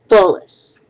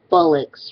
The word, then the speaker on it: bolus: Bolus. Bolus. The meaning of it's spelled B-O-L-U-S. Bolus. And no, it's not bullocks, my good children.